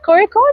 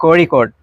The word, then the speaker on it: Kozhikode: Is that how you pronounce it? Kozhikode? Kozhikode. Kozhikode.